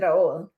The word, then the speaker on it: Raul: Raul roses Jr rul rul roses pronounce it as Raul rul Raul yeah Raul okay Raul yeah everybody